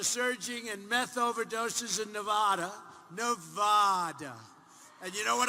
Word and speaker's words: Nevada: out here I said nobody says it the other way it has to be Nevada right and if you don't say it correctly and it didn't happen